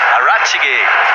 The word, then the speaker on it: Arachige: That's not how to say it. Arachige. That's it.